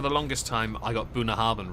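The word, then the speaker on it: Bunnahabhain: know that for the longest time i got booner harban wrong i thought it was uh boone harbin i had to look up i actually found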